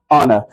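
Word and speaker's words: honour: जैसे आप देख सकते हो यहां पे ऑनेस्ट मैन आवर ऑनर। यहां पे एच साइलेंट है और एच के बाद जो साउंड है वो वोवेल साउंड है।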